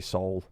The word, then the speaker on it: SOVL: It's actually Sol, but it's spelled SOVL, and SOVL's really fun to say, so we'll just call it SOVL.